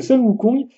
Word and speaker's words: Sun Wukong: Alors attention, c'est une prononciation pourra 10 000, mais c'est Sun Wukong, et forcément, il a